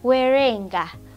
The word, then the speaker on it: werenga: Okay, then our next word is werenga. Werenga, it is spelled as w-e-r-e-n-g-a.